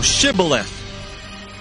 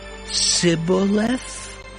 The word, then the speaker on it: Shibboleth: Then said they unto him, Say now, Shibboleth. And he said, Sibboleth? For he could not frame to pronounce it right.